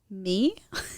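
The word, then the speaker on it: Mie: i promise it'll be the name is spelled m-i-e how would you say that me my my my my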